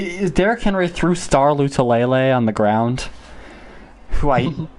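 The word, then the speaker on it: Lotulelei: derek henry through star lutalele on the ground who i who espn refuses to pronounce his name right they kept saying starla tulole and i wanted to punch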